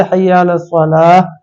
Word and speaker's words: حی علی الصلاۃ: کو ٹھیک کر لیں، اس کا صحیح تلفظ ہے حی علی الصلاۃ حی علی الفلاح، اس طرح کہیں۔ تو